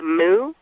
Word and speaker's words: mu: it has to be the moo it's spelled mu in Hawaii soon as you you